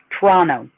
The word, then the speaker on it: Toronto: And by the way, here in Canada, Toronto is pronounced Toronto. Toronto.